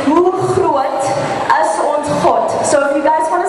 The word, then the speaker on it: Hoe groot is ons God: For the chorus, the way you pronounce it is Hoe groot is ons God.